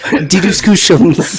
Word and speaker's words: DDiscussioMs: If you have pronouncing this name, here's the pronunciations. Oh my gosh. DDiscussioMs. DDiscussioMs.